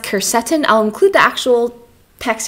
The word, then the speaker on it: quercetin: I'm always nervous to say things wrong, but it's pronounced quercetin.